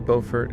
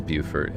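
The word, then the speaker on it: Beaufort: It could be Bowfort. It could be Buford. It is Buford in America. I'm just going to go with Buford since that seems to be the American pronunciation.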